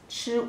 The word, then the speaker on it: 处: Pronunciation is chu u chu, fourth tone.